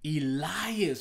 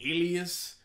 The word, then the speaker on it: Elias: Elias, bro. I was saying Ilias.